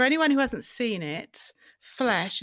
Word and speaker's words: Flèche: For anyone who hasn't seen it, Flesh is spelt F-L-E accent C-H-E, but it sounds a lot like F-L-E-S-H, and I don't think that's coincidental, is it?